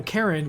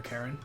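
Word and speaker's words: Charon: I like this because Karen, you know, Karen, which is normally spelled C-H-A-R-O-N, this is spelled literally kind of phonetically.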